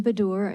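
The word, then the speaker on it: Baddour: and and I may be I may mispronounce badur b-a-d-d-o-u-r okay and state your name your position on the bill and your title um thank you chairman my name is bedor and I'm the director of the fair Financial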